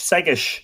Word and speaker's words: Segais: Is it Segais or Segais? No, I think you're thinking French. Irish. Segish. Segish.